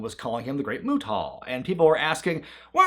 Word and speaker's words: Muta: He would every time pronounce it mutah. And you know, they eventually softened the T sound to make it muda as we all kind of generally call him that.